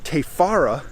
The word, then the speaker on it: Te Whara: should be a pretty epic day on the te fara track in the brem head scenic reserve incidentally something i just wanted to mention tefara is spelled wh the far apart but in the